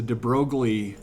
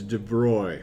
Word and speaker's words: de Broglie: kim students and they're like yeah it's the de broglie something or other and actually i guess in french it's de bruy so now you know and you can and